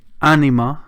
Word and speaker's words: Ænima: Now, the title of the album is basically Ænima. It's pronounced that way.